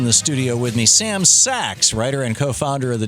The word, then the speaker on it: Sacks: tweet him at Sam Sachs and it's pronounced it's spelled rather s c KS not as in Goldman Sachs but as in you know a bag or something you know that is